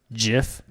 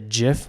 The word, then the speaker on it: GIF: we don't since because we say it as if it's just a word jiff it applies to the signals yeah the same rules of the English rules applied to it so and the English rules say it's a jiff so yeah let's go